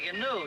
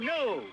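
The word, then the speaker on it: gnu: And a canoe, too. What? Canoe? It's G-N-U, new. The G is silent.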